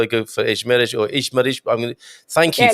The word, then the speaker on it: Esmeriz: And we say Esmeriz. Esmeriz. Okay, I had 50-50 in my mind. Do I go for Esmeriz or Esmeriz?